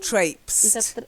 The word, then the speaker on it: traipse: done yeah this anybody's trip kept repeating repeating traipse she was right in the spelling that she was writing the pronunciation there to traipse what does it mean